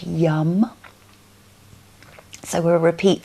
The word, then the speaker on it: yam: We'll keep the hands onto the heart and the chest for our mantra of YAM, which is Y-A-M, but pronounced yum.